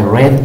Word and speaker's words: read: Sin embargo, la excepción es de que en pasado lo vas a pronunciar como read. Y en pasado participio también, read. Solamente en presente lo pronuncias como read.